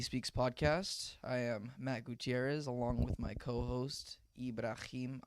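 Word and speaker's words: Gutiérrez: Gutierrez. Do you roll the R's? 4 R's. No, but do you actually roll the R's? Yeah. Gutierrez. Gutierrez. Yeah. 2 R's means you roll them.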